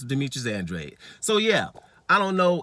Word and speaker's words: Demetrius Andrade: Ask people how to pronounce the American champion that's been there for a decade, Demetrius Andrade. Calling him Dimitri Andrada and all kind of stuff. Still can't pronounce his name.